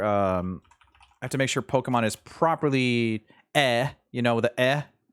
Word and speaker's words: Pokémon: I have to make sure Pokemon is properly... you know, the You have to have the accent on the E.